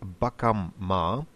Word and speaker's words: bakamma: And note again, bakam ma, clearly pronouncing both M's in this word, meaning our shop.